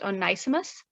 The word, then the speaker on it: Onesimus: via an enslaved African named, I think it's pronounced Onesimus.